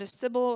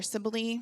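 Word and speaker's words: Cybele: god of healing and Cibil or Sibily, I've heard it pronounced both ways.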